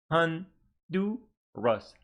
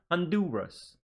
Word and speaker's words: Honduras: Honduras. 3 syllables, stress on the second syllable. Honduras.